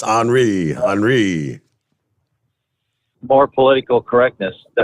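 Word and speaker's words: Henri: does that happen Henry yep it looks like Henry but it's HRI HRI more political correctness the hurricane is not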